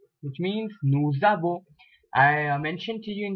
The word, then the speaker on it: nous avons: I mentioned to you in the previous lecture, in French you tend to join the words when you have an S in the end, so it is pronounced as nous avons, which means we have.